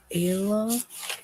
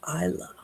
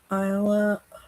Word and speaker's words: Isla: Okay, so Ayla, am I saying that right? So sometimes if I have trouble with names, I write down how to say it from a previous, but where's it? Isla. Okay, so Isla, recent breakup, hoping to work things out.